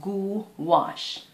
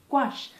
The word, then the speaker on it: gouache: it's quick tips tips about gouache squash is pronounced goo wash wash so like g-o-o-w-a-s-h go wash gouache but just sleep faster don't bite your tongue